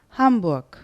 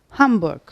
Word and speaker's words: Hamburg: en kuzeyindeki Kent hangisi Hamburg Bizim bildiğimiz ve duyduğumuz anlamda Ama esas okunuşu nedir Hamburg hurg r'yi Duydunuz mu Hayır yumuşak G gibi sadece uyu uzatıyorsunuz Hamburg Es bir sonraki harfimiz